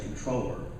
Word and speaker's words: comptroller: not you're a neat i usually say controller because that's the actual proper pronunciation even though it's spelled CEO & P so it looks comptroller now if anyone had